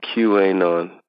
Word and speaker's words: QAnon: go under the name, people pronounce it QAnon. They spell it QANON.